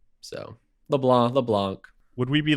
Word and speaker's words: LeBlanc: It's technically like LeBlanc, and the C is silent because it's French, but okay. I just always say the C because if someone needs to spell my name, they need to hear the C.